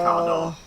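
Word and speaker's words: Carte d'Or: you guys not have cardor ice cream it's spelled cart but technically it should be pronounced caror so it sounds quite a lot like car door so I was like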